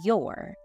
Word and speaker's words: your: The part that is irregular is this O and this U because together we kind of expect them to make our.